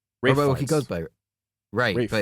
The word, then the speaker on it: Ralph: He goes by Rafe, but it's spelled Ralph. It's spelled Ralph, but it's pronounced Rafe.